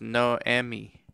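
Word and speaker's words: Noemi: clinical research aspects also my name is pronounced no emmy oh okay thank you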